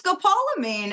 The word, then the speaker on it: scopolamine: are two oh I don't know how to pronounce the first one scop scopal amine amine it's Scopolamine and you're right and what's another one and